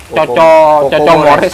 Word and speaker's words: Coco Mores: Coco Mores apa Koko Mores? Coco Mores sebenarnya. Tulisannya. Oh, ini bacanya Coco Mores ya. Karena anak saya yang Oh, ngasih nama. Coco ini. Coco bukan Koko.